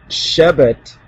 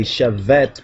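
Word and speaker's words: שבט: And let's continue on with Genesis 49 and 10, where it says the Shebet, or some will say Shevet, but that's the Ashkenazi so-called pronunciation. We're going to pronounce from the Ethiopic Hebrew pronunciation.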